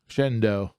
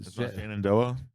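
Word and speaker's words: Shenandoah: Shendo that's how you say that. Shendo Shannondoa say Shendo. Shendo. That's how they say it out there in the cold region.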